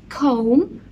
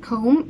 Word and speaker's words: comb: On a dressing table بنلاقي hairbrush, hairbrush, hairbrush, comb, comb, comb. الB في كلمة comb is silent, مش بننطقها.